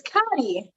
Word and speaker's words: Cotty: Oh, it's Cotty. It's like Gotti, like me.